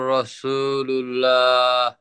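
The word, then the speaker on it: رسول الله: ইলাহা ইল্লাল্লাহ ইল্লাল্লাহু মুহাম্মাদুর রাসুলুল্লাহ লুল্লাহ না লুল্লাহ লুল্লাহ টান দিবেন তিন আলিফ টান লা ইলাহা ইল্লাল্লাহু মুহাম্মাদুর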